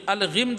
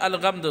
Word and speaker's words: غمد: تلوار کھینچ لی گئی، من الغمد یا الغمد، تلفظ دیکھ لیجئے گا ثلاثی مجرد کا، من غمد الدجا، میں فتح کے ساتھ یہ پڑھ رہا ہوں، دجا تاریکی، تاریکی کے